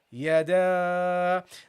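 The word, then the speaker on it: يدا: Okay, so you pronounce this as yada.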